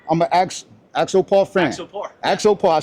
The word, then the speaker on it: Axopar: I'm with it I'm a a axopar fan axopar I said it right yep absolutely thanks again